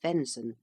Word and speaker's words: venison: Venison, pronounced venon, the flesh of deer.